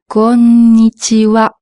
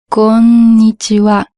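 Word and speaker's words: こんにちは: Pour la prononciation, fais attention de bien marquer la deuxième lettre, le son n. Konnichiwa. Il faut pas dire konnichiwa, il faut dire konnichiwa. Et ensuite, l'avant-dernière lettre, le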